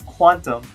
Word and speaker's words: Qtum: to today's topic today I want talk about Q them what is Q them or that's gonna be hard for me I probably will be pronounce a cute emoto's technically pronounce quantum whenever I see Q them though I probably